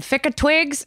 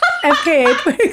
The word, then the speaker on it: FKA twigs: Ficka Twigs? Is that how you say it? FKA Twigs.